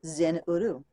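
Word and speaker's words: Zin-Uru: power in its sound say ye the word Zin uru and the power ye shall find that's z-i-n hyphen you are you which to me is pronounced Zen uru yet must ye understand that man is of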